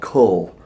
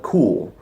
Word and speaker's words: Kuhl: It's called Cull, or you can call it Cool. It's spelled Kuhl.